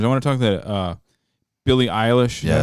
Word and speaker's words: Billie Eilish: speaking of like young girl entertainers, I want to talk to Billie Eilish.